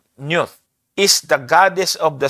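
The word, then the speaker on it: Nut: Ang sabi po diyan, si not yan or pino-pronounce itong newth is the goddess of the sky and heavens.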